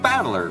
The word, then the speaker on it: Battler: It's made up of the characters fight in person, and it's pronounced Battler.